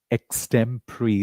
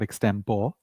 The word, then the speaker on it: extemporary: A lot of people do not know the right pronunciation of this word. It's actually extemporary. It's not extempor.